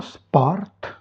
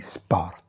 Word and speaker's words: sport: Lo sport, gli sport. Ok? On prononce ici le T final.